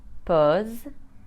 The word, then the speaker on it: pause: Mass Tas o class but a single s between two vowels will be pronounced Z like in the words Jose Vaz pose or cause now let's have a